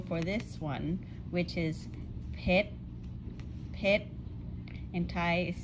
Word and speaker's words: ເຜັດ: Do you hear the difference between Lao and Thai? Pit. And Thai, pit. But both means spicy. And this one is pit, pit, pit, pit, like a friend's name, pit.